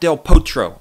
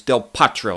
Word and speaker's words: Del Potro: martín Del Potro and not del Potro I think right it's del Potro let me know if there's a couple of Argentines out there and you can give my give your estimation of my pronunciation of Juan martín Del Potro I like to kind